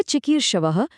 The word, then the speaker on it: चिकीर्षवः: और हाँ, अंत में प्रिय चिकीर्षवः में उस विसर्ग की एक हल्की सी कोमल गूंज आनी चाहिए।